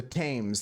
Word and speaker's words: Thames: The Thames. There's no H pronunciation, Husker.